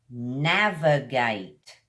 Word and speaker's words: navigate: Our first word is navigate. Navigate has got 3 syllables, guys. Na, v, kind of put your teeth on the front lip, v, gate. Navigate.